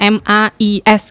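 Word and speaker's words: maïs: Tapi kalau jagung itu AI-nya dibaca dan S-nya juga dibaca mais gitu.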